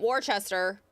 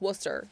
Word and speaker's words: Worcester: Worcester, that's not Wararchchester or Warsester. Don't read it like that. It's Worcester. If you say anything else, you're wrong.